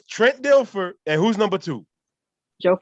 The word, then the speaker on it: Dilfer: their entire existence and those names are trent denfer dilfer i can't even say his name right